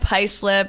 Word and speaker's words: Haislip: I determined later other play I'd have lip Haislip but get settle you I know people mispronounce my last name and it's very phonetic